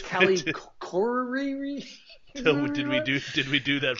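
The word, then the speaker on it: Callie Khouri: Okay, so anyways, it's Callie Corey.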